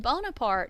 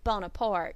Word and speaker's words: Bonaparte: And I don't know if you can hear the subtle difference in that, but Bonaparte is the French spelling and pronunciation of his name.